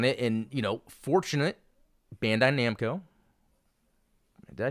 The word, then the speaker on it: Bandai Namco: video released on it and you know fortunate Bandai Namco did I say it right that time yes